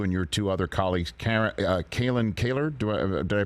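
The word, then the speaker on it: Kalyn Kahler: reporting from you and your two other colleagues, Kalen Kaler, did I pronounce it correctly?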